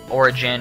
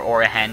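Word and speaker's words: Origen: championship until the finals against Origin or Orihen, depending on how you want to pronounce it.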